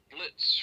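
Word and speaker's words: Blitzø: similar personality to um Blitz from hell of a boss don't you mean bito the is silent the ey what are you pronouncing it bzo no I said the O the O was silent how is the oh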